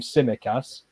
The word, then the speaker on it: Tsimikas: I think that's how you say his name, Tsimikas, the Greek Liverpool left back.